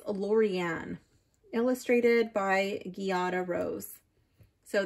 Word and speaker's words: Lorriane: by Lorraine Anderson and Juliet Diaz I always mispronounce her name and then I catch it after so it's not um Lorraine it's lauan illustrated by Gata Rose so this is a